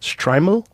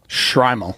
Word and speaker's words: shtreimel: Uh, the fur hat is known by the Yiddish name, how do you say that? Striml. Shrimal. Shrimal. Yeah.